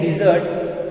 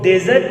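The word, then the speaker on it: dessert: Sweets को बोलते हैं डिजर्ट, और इसको गलती से भी आज से आप कभी रीड करेंगे तो इसको डेजर्ट नहीं रीड करेंगे, आप इसे प्रोनाउंस करेंगे डिजर्ट।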